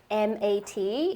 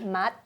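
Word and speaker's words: mặt: First one would be mat, M-A-T. Mat. Yes, and if you pronounce it as mat, it means face, and if you say it with a higher tone, mat, then it means eyes.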